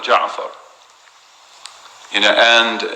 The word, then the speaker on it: Ja'far: after the ra of Ja'far. And here the word Ja'far is pronounced as Ja'fara, simply for the metrics.